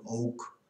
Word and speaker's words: OWK: Englisch ausgesprochen, Oak.